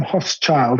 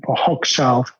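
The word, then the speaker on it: Hochschild: guess adam uh yeah i'll spell it for you it's um h-o-c-h s-c-h-i-l-d so adam hoff's child i think is how you hog child oh this i think is how you pronounce it perfect yeah i think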